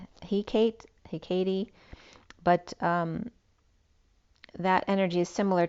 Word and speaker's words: Hecate: stable, as, I don't know how Hecate is pronounced, Hecate, but that energy is similar to Hermes, holds 2 flames, and does magic, deals with boundaries and between spaces.